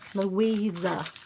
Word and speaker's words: Louisa: Louisa with a Z. We got to say with a Z because it's German.